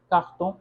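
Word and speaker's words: carton: अच्छा, इसको आर को कभी ख प्रोनाउंस करते हैं, कभी ख, कभी सिंपल आर। इसके लिए घबराने की ज़रूरत नहीं है। अगर ख का प्रोनाउंसिएशन नहीं आ रहा है तो सीधे सीधे आर ही प्रोनाउंस कर दें, तो कारतों या काख्तों।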